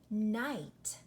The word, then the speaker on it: night: Listen, night. You do not hear the GH letter pair at all. It is completely silent. Not just one letter is silent. Both of them are silent.